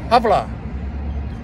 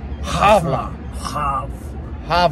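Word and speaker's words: hvala: you and that is havla have La I kept saying it but it's it's almost like voila but you've got to get ah sound and that is really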